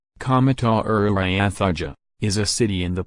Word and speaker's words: Comodoro Rivadavia: Comodoro Rivadavia, Spanish pronunciation, Comodoro Rivadavia, is a city in the Patagonian province of